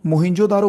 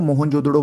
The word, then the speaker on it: मोहनजोदड़ो: दूसरे नंबर पे मोहनजोदड़ो देखो मोहनजोदड़ो बोलो या मोहनजोदड़ो बोलो कुछ भी जो आप अच्छे से प्रोनाउंस कर सको 1922 में इसकी शुरू